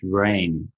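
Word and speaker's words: Rein: called Glenn, I believe his surname is pronounced Rain, R-E-I-N.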